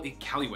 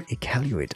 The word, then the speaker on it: Iqaluit: Nunavut, capital Iqaluit.